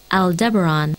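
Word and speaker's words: Aldebaran: Let's just see how that's pronounced if I'm pronouncing that correctly. Al Deberon.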